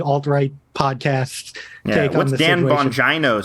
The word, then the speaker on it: Bongino: uh right-wing fixate dan bongino you know about dan van gina i don't is it bongino it's yeah it's not it's not it's china it's either a hard g or a or a eno uh either way his